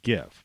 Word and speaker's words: GIF: would say the the the proper word would be gif because you wouldn't you know it's a it's a hard g the only way a